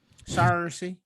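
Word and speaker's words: Saoirse: Sorcy Yeah. Ronan. Yeah. Sarcy. Sarcy.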